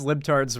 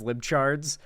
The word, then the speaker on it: libtards: She couldn't even pronounce libtards right. She mispronounced it as libchards.